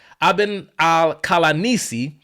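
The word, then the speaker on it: Ibn al-Qalanisi: Another of the Arab Muslim historians from Syria, Ibn al-Kalanisi, that's how you pronounce his name. I wrote it down here. Ibn al-Kalanisi, author of the continuation of the Chronicle of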